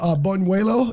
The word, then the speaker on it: buñuelo: Like, it was, I don't know what a buñuelo, is that how you say that?